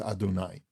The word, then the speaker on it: Adonai: That my name is written in one way, and that's Zeh Shemi, and Zeh Zichri is the way that I am pronounced with the Aleph Dalet Nun Yud, with Adonai.